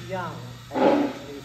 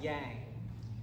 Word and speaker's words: Yang: I try I try it's young for people uh although since everyone thinks it's Yang um I it's like